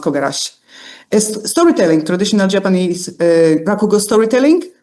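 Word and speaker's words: 凩: It's pronounced kogarashi.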